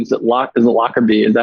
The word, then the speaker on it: Lockerbie: Because like John Smith is going to be pretty hard to find, but your last name, is it Lockerbie? Is that how you say it? Lockerbie, yeah.